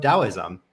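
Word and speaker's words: Taoism: is the founder of Daoism uh spelled taism in case in case you've seen it written but never pronounced before and there's just so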